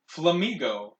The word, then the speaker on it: Flamigo: the uh wonderfully named flamigo and no I didn't mispronounce Flamingo they just just dropped an end and called it Flamingo this is a typo